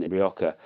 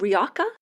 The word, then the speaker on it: Rioja: And they sit, look up Villora Hotel in Rioja, and they sit literally in the lap of the Church of San Juan, which is next door to it.